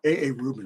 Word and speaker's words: A.A. Rubin: A.A. Rubin. I was actually going to say A. Rubin, but it's A.A. Rubin.